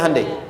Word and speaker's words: Hyundai: Kita bisa kita dari tekad sehingga ketika di sana bikin Honda sini Hande Hyundai kan dibacanya Handai ya kan sana Honda sini Handai gitu di apapun yang dibuat